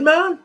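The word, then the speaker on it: main: got any letters off it's just m-a-i-n how am i going to pronounce that good man that's all it is good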